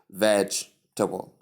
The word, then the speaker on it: vegetable: fact the see see it's just split into three syllables not four syllables three veg t and bo instead of V gbo.